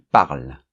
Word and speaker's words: parlent: Ils parlent. Hein, on ne prononce pas ENT dans la conjugaison.